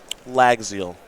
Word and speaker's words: Llagziel: name like it's marks rants that one's easy lag zeal it's not will pronounce that now round number ten here in